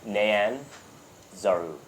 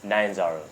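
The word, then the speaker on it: Nyanzaru: to write it down it's n y a n I wrote it down phonetically but um probably yeah got it and then z a r u great nanaru nanzer n Nan zaru n Nan Nan zaru n zaru yeah like cyan gotcha Nan Zar yeah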